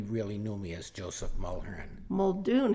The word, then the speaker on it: Mulherin: So, my name is Audrey Weston, and today I am interviewing Joseph Mulherin, also called. Did I Yes. say it right? Mulherin?